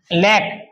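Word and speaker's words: lack: और किसी शब्द में के और क है। के और क से पहले सी है तो सी क्या हो जाएगा? साइलेंट हो जाएगा। जैसे लैक लैक का मतलब कमी। एल ए सी के तो सी क्या हो गया? साइलेंट हो गया।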